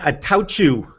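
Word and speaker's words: Attaochu: time in a while jeremiah attach you is how you pronounce his name because i've got a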